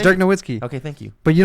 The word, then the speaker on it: Nowitzki: How do you pronounce it? Just it's say Dirk it. Nowitzki.